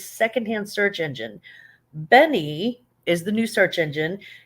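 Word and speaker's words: Beni: um uh it's called Benny B ni I and I hope I'm pronouncing that correctly could be beanie but I think it's Benny um B is in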